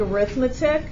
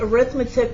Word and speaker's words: arithmetic: word you probably think arithmetic but we only call it arithmetic when it's a noun when it's an adjective